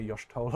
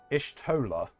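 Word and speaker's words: Y'shtola: to bed uh I've never heard anyone say Yos TOA like that uh I I'll say it however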